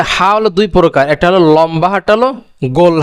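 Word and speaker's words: لام: calf calf তারপরে কি লাম লাম আর লামের উচ্চারণ কোথা থেকে হবে যে জিহ্বার আগার কিনারা জিহ্বার যে আগাটা আছে তার কিনারা সামনে সামনের উপরের দাঁতের মাড়ির সঙ্গে লাগাইয়া সামনের উপরে যে দাঁত আছে ওই দাঁতের মাড়ির সঙ্গে লাগাতে হবে তাহলে লামটা কিভাবে উচন হবে লাম লাম তারপরে কি মিম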